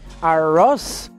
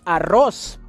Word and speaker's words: arroz: Some hard sounds for people that speak English natively will be, for example, the R instead of R, so you don't say arroz. The correct pronunciation is arroz with R.